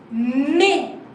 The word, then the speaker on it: mai: Mai. Mai. Oh, wow. A and I, this sounds like A. AI sounds like A. Like this one. A and I sounds like A. So it's Mai.